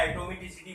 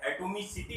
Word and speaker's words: atomicity: Molecularity क्या होती है, मॉलिक्यूलरिटी किसे कहते हैं, या एटोमिसिटी बेटा किसे कहते हैं। एटोमिसिटी होता है बेटा, एटोमोसिटी नहीं बेटा होता है, एटोमिसिटी। सॉरी स्पेलिंग सही कर लेना।